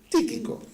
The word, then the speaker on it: Tíquico: No, con acento en la primera I. Tíquico.